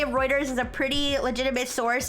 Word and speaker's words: Reuters: But anyways, so this is a rumor from anonymous sources to routers. Now, to be fair, if it's I still don't know how to pronounce routers.